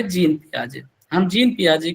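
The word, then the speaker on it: Jean Piaget: बट सही pronunciation इनके नाम का जीन पियाजे ही है।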